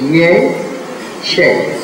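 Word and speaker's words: ཡེ་ཤེས: Yeah, so if we go back to the, let's say, the Tibetan language, then the word for wisdom is 2 syllables, ye, she.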